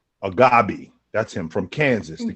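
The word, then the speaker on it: Agbaji: Agabi.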